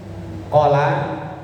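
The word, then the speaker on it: قلى: Qola lamnya panjang qof-nya pendek artinya benci.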